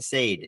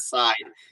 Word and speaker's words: Sade: his name is pronounced Sade it took me about the first five months working with him to learn that it's not side it's s um there